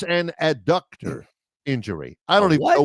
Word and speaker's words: adductor: It's ADDUCTOR. It's not abductor.